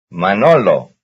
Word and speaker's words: Manolo: Manolo. Manolo. That's in the middle.